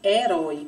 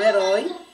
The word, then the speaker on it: herói: Que nós já falamos na aula anterior, que essa letrinha ela não tem um som. E quando as palavras escritas por ela, iniciadas por essa letra, a letra que nós vamos pronunciar é a vogal que vem após ela.